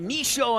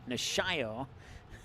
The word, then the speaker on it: Nishio: intended for Udo nishio when I got to say it quickly I say it wrong and when I stop to look at the roster I say it right nishio so corner kick here